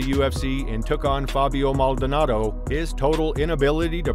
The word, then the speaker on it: Maldonado: And when he returned to the UFC and took on Fabio Maldonado, his total inability to pronounce the Brazilian's name was just too hilarious to leave out of this video.